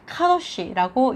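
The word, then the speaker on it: קדוש: 더 배울 때 요 그래서 이거는 카우 쉬라고 읽습니다 카도 쉬는 우리가 너무너무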